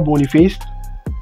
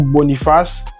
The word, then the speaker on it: Boniface: Donc, vous prenez Victor Boniface ou Boniface. Ça dépend de comment vous l'appelez. Moi, je prononce en anglais. Ouais, je suis un bilingue. Boniface.